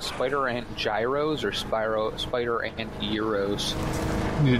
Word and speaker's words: gyros: So do you think these were called spider ant gyros or spider ant euros? They're definitely euros. Gyros, because they spin? Oh, I thought euros, because that's how you pronounce the sandwich.